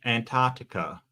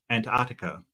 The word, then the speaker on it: Antarctica: thing so you know it's not your accent you're not pronouncing the first C Antarctica Antartica isn't that what I'm